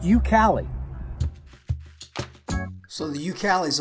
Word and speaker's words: YouKali: look at it so it's pronounced you Cali so the you Cal